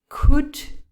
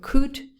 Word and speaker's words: could: the problem here is the l is not pronounced at all some of my students try to pronounce it a little bit but no nothing could would would is the